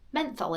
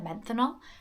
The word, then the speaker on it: menthol: cooling, refresh, refreshing menth menthol in it. I was going to say menthanol. Menthol in it. Menthol.